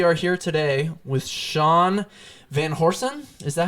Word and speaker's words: Van Horsen: here we are here today with sean van horsen is that how you pronounce your awesome that is how you say